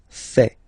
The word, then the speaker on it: fait: Il, masculin, and then elle, féminin, fait. Final T not pronounced.